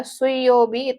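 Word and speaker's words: 水曜日: ada kanji api ya Lalu ada suobi ya suyobi itu artinya hari rabu ya kanji yang digunakan adalah kanji air yaik dibacanya suy hari Rabu Lalu ada mokuyobi ya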